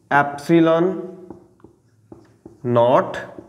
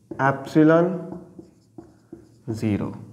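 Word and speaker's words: epsilon naught: 9 Newton metre और इसको अगर हमने प्रोनाउंस करना है तो हम इसको बोलेंगे अप्सिलन नॉट या ऐप्सिलन 0 यह एक ग्रीक लेटर है अब यह है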